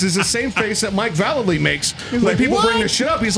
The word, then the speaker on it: Vallely: him Mike Vallely anymore you call him Mike Vallely because in the when we had magazines we've all thought it was valet lane it's Mike Vallely is actually how you say his name now he's doing interviews